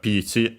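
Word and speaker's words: ピーチ: First and foremost, we have Pichi, of course in this case simply the name of our character, Peach. But yeah, it comes from peach, English peach, accented. Long vowel, of course, and then also the...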